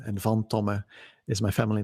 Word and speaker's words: van Tomme: my first name and vom Toma is my family name and it's a it's a Dutch name mm II our company